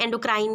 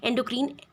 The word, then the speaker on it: endocrine: एंडोक्रीन को भी pronounce कर सकते हैं एंडोक्राइन या एक्सोक्राइन, एंडोक्रीन, एक्सोक्रीन, it's also one ऑफ the pronunciations.